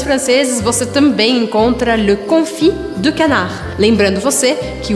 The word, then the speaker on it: confit: Lembrando você que o T, S ou D e S no final das palavras eu não pronuncio. E por isso eu falo confit, confit, e eu não falo confit, tá?